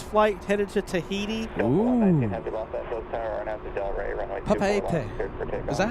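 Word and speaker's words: Papeete: Papaete.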